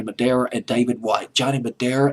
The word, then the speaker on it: Madara: a couple of songwriters johnny madara just pronounced this johnny madeira and david white johnny